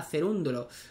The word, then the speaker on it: Cerúndolo: susb y luego a cerúndolo pues cerúndolo si no me equivoco tiene acento en la u y no se lo han puesto no si no me equivoco